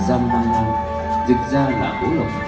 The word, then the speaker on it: Jambhala: ngũ tính thần tài, phát âm là Jambala, dịch ra là ngũ